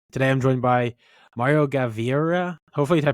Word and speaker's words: Gaviria: your host and today I'm joined by Mario gavier hopefully I pronounce that correctly I'm not really the best with like Spanish how do you pronounce your last name gavia gavia gavia okay thank you yeah thank you